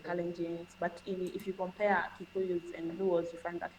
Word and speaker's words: Kikuyu: And then the Kukua? Kikuyu, Kikuyu, Kikuyu.